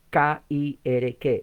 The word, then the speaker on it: Kirk: Iglesias en Escocia se llama Kirk, K-I-R-K, se pronuncia Kirk, y reinos notables, pero